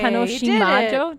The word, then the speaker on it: Tanoshiimajo: Hey, Tanoshimajo.